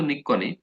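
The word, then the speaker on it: নিক্বণ: আমি এইভাবে মনে রাখতাম, মানে উচ্চারণটা তো এরকম যে চিক্কন নিক্কন, কিন্তু আমি মানে বানানটা মনে রাখার জন্য এইভাবে পড়তাম যে চিক্কন নিক বন। ঠিক আছে, কয়ের নিচে কিন্তু ব, জাস্ট এটা মনে রাখার জন্য, হ্যাঁ, উচ্চারণ কিন্তু নিক্কনই, কিন্তু আমি জাস্ট মনে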